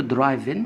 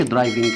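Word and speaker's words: driving: المعلومه الثانيه، عندنا كلمة درايفن اسمها درايفن ما هوش درايفنج، لا درايفن، لأن حرف الجي إذا جاء في آخر حرف الكلمة يكتب ولكن له لا ينطق.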